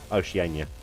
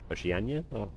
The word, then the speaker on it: Oceania: for travelers from the UK to Oceanania. Oceania. How have I miss how have I been mispronouncing that? Oceania.